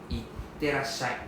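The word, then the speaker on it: いってらっしゃい: So instead of saying bye bye, they say itterashai. Itterashai. So you can see the double T sound, double S sound. So you just need to move the letters, pronounce the letters accordingly.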